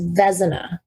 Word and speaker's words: Vezina: And I'm just going to say my last name is Vezina. Oh, Vezina. Vezina.